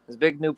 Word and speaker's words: Zbigniew: And very clever, devious fellow, I can't pronounce his first name correctly, Zygabru Yep, Brzezinski. Zbigniew Brzezinski, yeah, something like that.